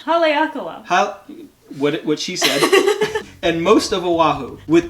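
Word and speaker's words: Haleakalā: west facing slopes of hilakala i said it wrong i like it say it again kayla what is it haleakala and most of oahu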